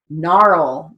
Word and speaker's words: gnarl: s-n-a-r-l uh world w-h-i-r-l gnarl to silent g so we're going to